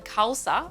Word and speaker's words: Khalsa: is my middle name and then Khalsa like salsa is my surname and